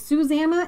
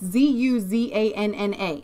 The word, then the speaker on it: Zuzanna: Do you pronounce it Susanna? It's Zuzanna.